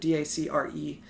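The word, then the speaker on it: Dacre Montgomery: Montgomery I think it's pronounced d'accord DAC REE Smith Montgomery with Montgomery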